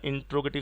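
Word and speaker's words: interrogative: समझ लो वो sentence इंट्रोगेटिव होगा, किहड़ा होगा इंट्रोगेटिव, इसनों इंटैरोगेटिव भी बोल देंगे आप, जो कि सही नहीं होंदा, सही प्रोनाउंसिएशन होंदा बेटा इसका इंट्रोगेटिव।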